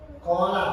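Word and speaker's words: قَالَ: Kola panjangnya ada 2 harokat. Kita baca kola, banyak lafaz kola di dalam Al-Quran. Kola, kopnya ada alifnya, terus sebelumnya ada harokat fathah.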